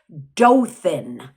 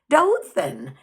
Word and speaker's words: Dothan: not pronounce the word Dothan. And I even remember being on the phone. I said, John, no, do this with me. Thin, Dothan. And he'd say, Dothan.